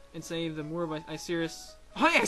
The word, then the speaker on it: Icirrus: it a video and save the Moor of Icirrus.